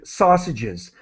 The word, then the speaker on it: sausages: those are sausages so sausage and sausages the S is um pronounced as an extra syllable okay so that's Rosie